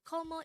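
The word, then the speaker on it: 고모: if it is for paternal Aunt it is gomo IMO is pronounced as a two-syllable word the first syllable is e and the second syllable is Mo while KOMO is also pronounced as a two-syllable word a first syllable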